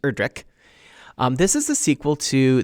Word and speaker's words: Erdrich: and it's pronounced erdrich without the ch at the end just erdrick this is the sequel